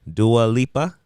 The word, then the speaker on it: Dua Lipa: Dua Lipa, did I say it right?